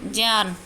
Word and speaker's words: ज्ञान: तो ज्ञान लेकिन इसका शुद्ध उच्चारण क्या होगा? जय। ज और ओ पंचमाक्षर है हमारा यह इससे ज और य से मिलकर बना है यह ज लेकिन ज्ञान इसको अगर शुद्ध उच्चारण की हम बात करें तो ज्ञान बोला जाएगा इसको ठीक है उसके बाद